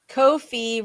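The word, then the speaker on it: Ko-fi: Uh, Kofi rhymes with no fee.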